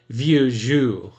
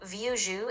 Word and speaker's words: vieux jeu: Well, I must admit, said one of the Clevers, now that she has gone, that I think that stuff of hers rather vieux jeu.